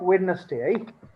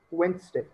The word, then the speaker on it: Wednesday: pronounce this real anyway it's not wedness day it's Wednesday K Wednesday very good